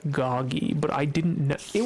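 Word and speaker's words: Gogy: he I saw that his name was written as like g-o-g-y at one point and my friend I told the term my friend I was like what's a Gogi and apparently it is not Gogi it is goggy but I didn't know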